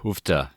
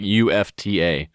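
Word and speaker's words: uff da: can attest to the houfta uh remark i've heard that i don't know we always pronounce it not like with an h it's just like ufta ufta and it kind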